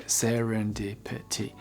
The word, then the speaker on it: serendipity: How many syllables are there? Serendipity. 5 syllables.